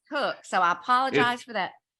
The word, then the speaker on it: Koch: entails Coke aesthetic dentistry cook okay let's just tell everybody if they're looking you up your last name is not spelled like it sounds it's k-o-c-h yes but it's cooked it's cooked so I apologize for